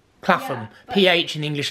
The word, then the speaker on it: Clapham: Well, but like Clapham. Clapham.